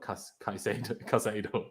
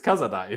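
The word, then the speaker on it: Casadei: No, it's not Cazado. It's Cazadei. That's how it's spelled for sure. And also probably kind of how it's pronounced.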